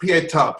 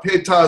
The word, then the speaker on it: Pietà: J, because she painted a folk pietà. Pietà is like the mother with the dead son.